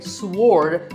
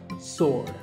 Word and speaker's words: sword: what about this word sword many people say sword but that is totally wrong it's just sword and here's one last word with silent letters